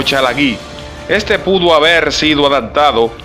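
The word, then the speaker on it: ᏣᎳᎩ: El término castellano Cherokee puede deberse en origen al término en lengua cherokee, pronunciado Yalagí o Chalagí.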